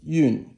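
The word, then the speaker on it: 运: So if you have this character right here, and then you have that running radical, this yun is fourth tone.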